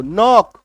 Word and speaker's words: know: KNOW, के को काट दो, अब पढ़ो NOW, नो। आई बात समझ में। तो जब किसी शब्द के शुरुआत में KN हो, के को मत पढ़ना, के साइलेंट होता है।